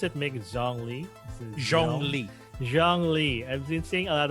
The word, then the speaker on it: Zhongli: Speaking of Genshin, yeah, I've been seeing a lot of, how do you pronounce it? Mick Zhongli. Zhongli.